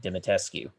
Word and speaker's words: Dimitrescu: makes up the Daughters of the House of Dimitrescu, which is actually how you pronounce that name.